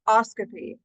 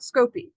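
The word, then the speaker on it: -oscopy: notice by the way it is pronounced oscopy not scopy okay that is a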